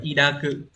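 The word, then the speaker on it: 抱く: Đọc là y đa cự.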